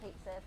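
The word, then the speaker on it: Cait Sith: I mean, they pronounce it Kate Sith, and they're gonna Yeah. pronounce it Kate Sith, and that's fine. That's the Anglicized like reading of it, and it's common enough.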